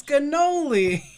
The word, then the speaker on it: cannoli: And it's cannoli. Cannoli? Yes. There's no G in that.